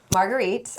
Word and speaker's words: Marguerite: Okay, Marguerite.